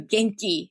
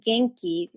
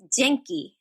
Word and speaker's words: genki: then when i introduced genki written down they read as janky like gentlemen soft g so i explained them and asked my friend how do i say janky not jenkins hot g and one person my